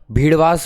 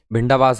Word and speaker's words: भिंडावास: झज्जर और भीड़वास वन्यजीव अभ्यारण्य जो है इससे ऊपर वाला जो भी पढ़ के आए भिंडावास है, भीड़वास नहीं है, भिंडावास।